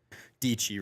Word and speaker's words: Dietschy: Dietschy rhymes with peachy, so she says at the end of videos.